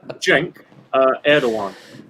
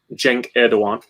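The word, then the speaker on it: Cenk Erdoğan: finland is just good looking okay anyway um jenk uh erdogan is how you pronounce this guy's name it's spelt sync with but the correct pronunciation is uh jenk erdogan and he is a master of the fretless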